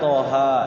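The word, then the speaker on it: طه: Padahal dibacanya nun, sod dibacanya sod, qaf dibacanya qaf, toha dibacanya toha ya.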